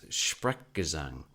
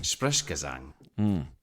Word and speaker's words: Sprechgesang: I've heard Fred's delivery being described as Sprechgesang, which is a German word for speaking in song.